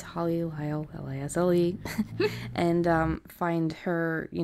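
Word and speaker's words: Holly Lisle: Her name is Holly Lyle, L-I-S-L-E, just in case you don't know how it's spelled.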